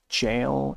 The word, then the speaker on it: gaol: Um it's I think it's infinite jail, not goal, but it's it's almost look like it's spelled goal but misspelled, but it's actually jail. Um G A O L is actually jail.